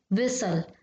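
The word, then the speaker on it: whistle: चीजें हो जाती है मैंने बोला वि स ल तो और लिखा क्या है विस टल तो यहां पर सही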